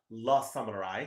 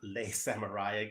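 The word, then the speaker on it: Le Samouraï: I did a review of La Samurai, not Les Samurai. I got a comment earlier today about pronunciation, so we'll try to do better about that.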